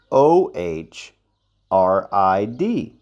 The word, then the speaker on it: Ohrid: just so you see oid is o r i d pronounced o rid but you get to